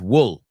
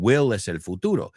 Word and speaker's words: will: A student of mine always says wool. I wool. I'm not going to use any names right now, but wool is lana. Okay. And will repeat after me.